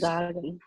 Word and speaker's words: sagen: So that is sagen.